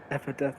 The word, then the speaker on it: Epitaph: Epitaph, yeah.